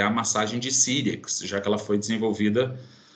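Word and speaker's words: Cyriax: Sirix com C-Y-R-I-A-X. Sirix, é assim que se pronuncia.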